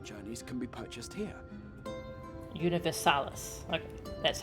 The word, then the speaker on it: Universalis: Universalis. Okay, that's how you pronounce that.